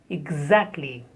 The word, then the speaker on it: exactly: Exactly. The first syllable has ig, and then za. Exactly. Stress on the second syllable.